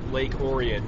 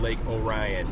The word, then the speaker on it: Lake Orion: Lake Oran is pronounced Lake Oran not Lake Orion even though it's spelled like Orion don't ask me why